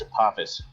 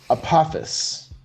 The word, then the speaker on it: Apophis: It's Apophis. Apophis. Oh, Apophis.